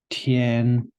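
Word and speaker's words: 田: So which is pronounced tian, and the bottom half is this li, which means strength.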